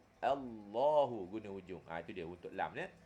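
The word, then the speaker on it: الله: tu tepi hujung lidah pasal ada setengah orang dia sebut lam ni dia guna daun lidah da lidah dia guna da lidah tu dia sebutini Al Al Allah Allah Allah bacanya guna daun lidah tak betul bila guna daun lidah it bunyinya Allah salah tak mahu guna hujung saja Allahu Gun huj dia untuk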